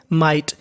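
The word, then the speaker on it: might: एमआई जीएसटी को पढ़ेंगे माइट यहां पे जो हमारा जीएच है य जीएच हमारा साइलेंट रहेगा इफ देयर माइट बी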